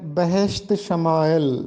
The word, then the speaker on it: بہشت شمائل: ذرا دیکھ لیتے ہیں۔ درست تلفظ ہے بہشت شمائل۔ بہشت شمائل کا مطلب